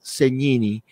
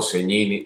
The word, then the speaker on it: Segnini: Y bueno, pues un enorme placer, Mira, bueno, soy Segnini o Segnini, de las dos de la manera funciona. Segnini es la forma correcta en el idioma italiano de pronunciar el apellido, porque la S y la G juntas se pronuncian como ñ.